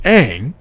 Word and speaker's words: Aang: main character's name pronounced Aang or on what m9 salami did was take the pronunciation of the name and go back to the proper Asian pronunciation as how would actually